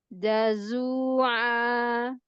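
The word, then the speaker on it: جَزُوعًا: Idza massahu syarru jazu'a. Ya, Masya Allah. Da, buka lagi rahangnya. Da, buka da. Jangan setengah-setengah. Jazu. Da, tapi pertengahan.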